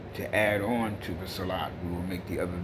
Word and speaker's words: salah: sometimes you see a-h and people say salah this is the correct way to pronounce the prayer that you make five times a day okay even people who know how to read properly and pronounce properly many times make this mistake and say salat there's two different s